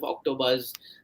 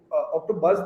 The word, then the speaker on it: OctoBuzz: I mean, if you look at OctoBuzz, the name it rhymes very well with the word octopus.